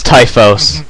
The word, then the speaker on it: Typhoeus: Oh, at least pick a name you can pronounce. I know I fucked it. It's Typhos, but yeah.